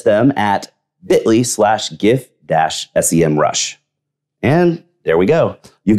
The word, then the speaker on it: Semrush: minutes i'm one of the professors at the sem rush academy in fact i was the first professor there and yes i know they finally officially said it's pronounced semrush but i'm going old school and sticking with